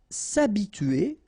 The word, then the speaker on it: s'habituer: s'habituer à, so remember, H is not pronounced here, so it's a, and then tuer here, T-U-E-R, tuer. S'habituer.